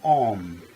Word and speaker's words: Om: In the Far East, Master Hamid Bey says, it is A-U-M, Om. And the sound of Om is spelled Ram in Egypt. Here at home, it's Om, O-M.